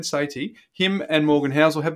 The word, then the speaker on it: Sethi: of interest, Ramit Sethi, even though it's spelled Sethi, I'll try and get it right, Ben, Sethi, him and Morgan Housel have the same philosophy.